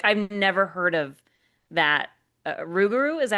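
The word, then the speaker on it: Rougarou: Ruguru, is that how you say it?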